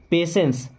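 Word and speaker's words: patience: पेशेंस का मतलब श देखिए यहां पे टी को हम स की तरह पढ़ते हैं ना हैव पेशेंस ऐसे बोलेंगे हैव पेशेंस ओके पेशेंस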